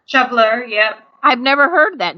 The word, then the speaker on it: shoveler: you got the northern shov how do you pronounce that shoveler shoveler yep I've never heard that name but you